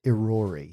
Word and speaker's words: Irori: I believe it is pronounced Irori.